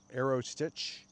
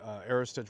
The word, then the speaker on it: Aerostich: I see people misspell it often. They spell it stitch with a S-T-I-T-C-H at the end. There's no T at the end, so it's like Aerostich, I think is maybe how they pronounce it.